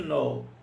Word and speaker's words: know: Here are a few things to know. O know eu já expliquei na aula 1, eu acho, né? Que eu falo que esse K não é pronunciado.